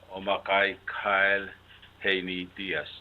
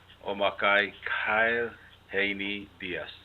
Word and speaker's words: Omakkai Kyle Haney Diaz: Here with me is Omakkai Kyle Haney Diaz. Did I say it right? Yes. Okay. I Very said it right. correct. Yeah. Omakkai Kyle Haney Diaz.